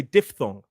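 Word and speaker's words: diphthong: And what that is, it's actually called a dip thong. Some people say diff thong.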